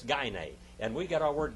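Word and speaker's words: γυνή: did like calling a woman a goonie it's gay nay all right those those uh german uh greek scholars pronounce the greek gunai but it's not gunnae it's gainey and we get our word gynecologist from that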